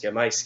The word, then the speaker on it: llamáis: You have llamo, llamas, llama, llamamos, llamáis, llaman. So it'd be llamáis with an accent on the A, not the I.